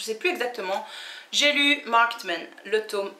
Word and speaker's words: Marked Men: Market Men, non, le ED ne se prononce jamais ED en anglais. Jamais, jamais, jamais. Après, vous pouvez faire des erreurs, hein, mais non, c'est Marked Men.